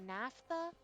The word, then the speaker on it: naphtha: It's something like that's how you say it, naphtha.